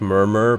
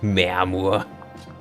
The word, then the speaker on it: Murmur: It's Murmur, but I like the evil-sounding German way you pronounce it. Mermur. that's how it's pronounced.